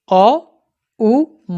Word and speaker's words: ওঁ: ম যুক্ত অ দেখেছেন অ উ ম ম ম মাঝখানে এই তিনটি অক্ষর নিয়েই হয়েছে উমা ব্রহ্মবাচক ব্রহ্মময়ী স্বয়ং ব্রহ্ম শিবের স্ত্রী এই হচ্ছে অম আপনি এভাবে উচ্চারণ করতে পারেন অ উম এই তিনটে উচ্চার বেটার